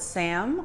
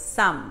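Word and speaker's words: 쌈: a misspelled SSA n so people call it Sam or slam but it's not it's some so there's an H in there that's kind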